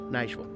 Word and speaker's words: Nashville: himat this is nashille it's not supposed to be too syllables this is Nashville can run it together Nashville this is Nashville be